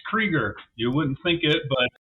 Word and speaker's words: Krueger: modeler special guest also known as Krueger on Facebook uh thanks for taking the time to be with us tonight how are you doing I'm doing well uh it's actually pronounced creger you wouldn't think it but that's just how